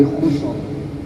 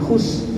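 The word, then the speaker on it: خسر: Kemudian yang kedua, innal insana lafi khusr. Khus. Ya. Khusar. Jadi jangan, jangan khusus.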